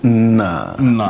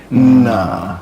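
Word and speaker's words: Nna: And the response is Na. So N-N-A. Try and pronounce that N-N-A in your mind, okay? Na. That's actually father in Igbo.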